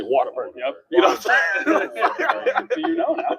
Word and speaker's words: Whataburger: When you're from Texas, you don't actually say Whataburger. You say Waterburger.